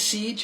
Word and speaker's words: Cej: My name is Siege, and I spell it the usual way, C-E-J.